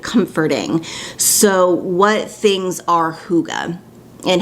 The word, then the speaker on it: hygge: the same way that i've been pronouncing it it's spelled h-y-g-g-e i thought it was heidi but it's pronounced hygge and like i've mentioned